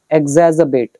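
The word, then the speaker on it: exacerbate: तो यह वर्ड है एग्जज़बेट। इसमें आर थोड़ा साइलेंट रहेगा। एग्जजाबेट।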